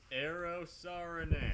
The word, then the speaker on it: Eero Saarinen: It's pronounced Eero Saarinen.